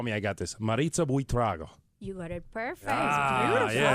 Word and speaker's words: Buitrago: our guest in studio right now is, please tell me I got this, Maritza Buitrago.